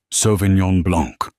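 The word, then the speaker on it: sauvignon blanc: It is pronounced sovenong blanc.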